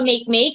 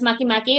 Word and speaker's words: Makemake: else children making or make make sometimes the the they pronounce this one as makimaki or make make it can be so we have ploto